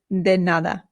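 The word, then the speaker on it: de nada: then another then remember that the d in Spanish is much softer than it is in English so this is not denada it is denada just as a reminder to make the softer D bring your tongue up right behind your teeth almost in between them when you make the D sound it softens it quite a bit then good all right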